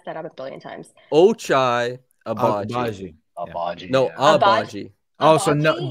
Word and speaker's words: Ochai Agbaji: People that don't know my name and how to say it, it's pronounced Ochai Agbaji.